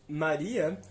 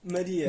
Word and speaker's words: Maria: Ou seja, se no português brasileiro dizemos Maria, no português europeu dizemos Maria. Exatamente. Maria, não é Maria? Pois é, com a fechado, já que não está na sílaba tônica.